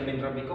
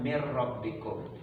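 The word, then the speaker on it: مِن رَّبِّكُم: Nunnya dihilangkan, dianggap tidak ada. Ada tapi tiada. Itu cara bacanya mir rabbikum.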